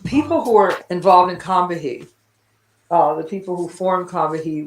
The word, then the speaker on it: Combahee: The group took its name from a local South Carolina river that was actually pronounced Combahee by the indigenous people of the area.